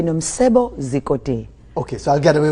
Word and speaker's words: Nomcebo Zikode: I cannot do the click. Okay, it's actually... Yeah, go ahead. It's actually Nomcebo Zikode.